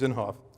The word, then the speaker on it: Inhofe: me with the pronunciation is it inhof thank you James inhofe who chairs the environment